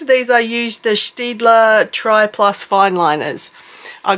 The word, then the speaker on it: Staedtler: I like to say Staedtler. I think that's the correct way to say it. I'm not 100% sure, but I know it's not Staedtler because that's just with the Aussie accent. So I try to say it like Staedtler.